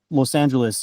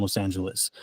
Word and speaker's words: Los Angeles: Um, if we pronounce Los Angeles using the Spanish pronunciation, it's probably going to sound strange to somebody in the States or even somebody who lives in Los Angeles who doesn't speak any Spanish. you know, if you say Los Angeles, people are going to be like, "That's not how you pronounce it."